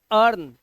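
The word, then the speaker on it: earn: जैसे यहां पर देखिए ई ए आर एन हम इसे पढ़ते हैं अर्न अब यहां पर आप देख सकते हैं ई के बाद ए आर आया हुआ है और इसकी हिंदी होती है कमाना तो हम इसे पढ़ेंगे अर्न तो यहां पर हमने देखा कि ई का जो उच्चारण है वो हो ही नहीं रहा हम सिर्फ पढ़ रहे हैं अर्न आपको ऐसा लग रहा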